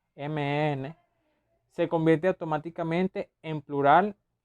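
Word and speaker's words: 们: El que puse en azul, carácter mem, se pronuncia mn, se convierte automáticamente en plural no, perdón, el pronombre que tengamos.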